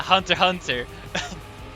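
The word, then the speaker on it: Hunter x Hunter: Hunter what oh yeah Hunter Hunter yes there's an X you don't pronounce the X whenever saying the title I didn't actually realize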